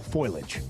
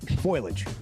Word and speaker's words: foliage: We're running out of time for the fall foilage. The fourth what? Foliage. Okay. Is it foilage or foliage? It's foliage. Foliage. It's three syllables.